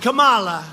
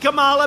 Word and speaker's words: Kamala: If you really take, you had Elizabeth Warren, you had Cory Booker, and you had Kamala. You know, if you pronounce her name wrong, she goes crazy. Kamala, like a comma.